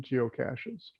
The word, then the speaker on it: geocache: knows it's spelled g-e-o-c-a-c-s-e it has nothing to do with cash money okay it's geo for earth cash french pronunciation is cachet